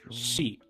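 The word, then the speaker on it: し: that four and seven, there's two different ways to pronounce them, right? We have yon. I'm just going to write it in in Romaji, just forgive me here. Yon, and we have shi.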